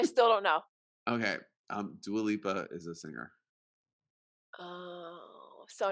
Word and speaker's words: Dua Lipa: i said i said just don't say do aleppa and you're like what is that what's that i still don't know okay um dua lipa is a singer oh